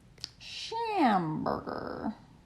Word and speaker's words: Schamberger: Shamburger. It's fun to say. Rhymes with hamburger.